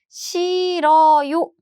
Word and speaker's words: 싫어요: And do you hear my pronunciation? This hue sound is gone.